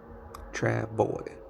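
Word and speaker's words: travois: called a Trav tra travos pronounced travo travo Travoy Travoy it's travel Indian picture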